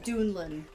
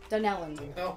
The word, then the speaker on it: Dunellen: When you go to Philly, if you say anything about this area, it's Metuchen and Dunlin. Dunellen.